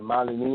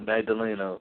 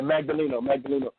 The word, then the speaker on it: Magdaleno: pronounce the guy's name, Malineo, or what's his name again? The guy down there, how you pronounce his name? Magdaleno. Yeah, Magdaleno.